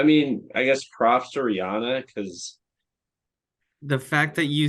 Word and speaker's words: Rihanna: which which you know you don't actually pronounce Rihanna like Rihanna right it's Rihanna Brianna Brianna why does she make